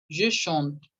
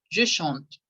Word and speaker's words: chante: Je chante. Repete. Je chante. Je chante. Je chante. Hasta Je la chante. no pronuncien la última E.